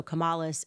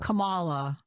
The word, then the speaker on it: Kamala: Um, so I remember her putting the emphasis on the second syllable. So it was like Camala. Kamala. Kamala was how she pronounced it.